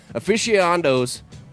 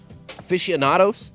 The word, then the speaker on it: aficionados: take the hit away aficionos aficionados that's how you say it mixed and mingled